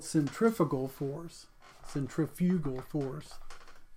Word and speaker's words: centrifugal: what's called centrifugal force centrifugal force I'll emphasize the second syllable so you know exactly what I'm saying here's another example an